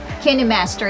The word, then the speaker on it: KineMaster: KineMaster, yun tamang pronunciation.